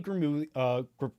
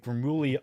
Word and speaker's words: Gramuglia: of the channel, Anthony Gramuglia. Gramuglia. Well, no, it's not Gramuglia. Yeah, the G is the second G is silent. It's like Gramuglia.